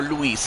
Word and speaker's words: Luis: I'm doing fine there, Lewis or Luis, I should say, cuz I have another guy, uh I have another friend also named Well, it's also spelled L U I S, but it's pronounced Lewis.